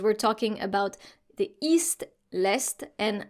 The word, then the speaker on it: est: Dans l'est, remember here, with the east, we need to pronounce the S and the T.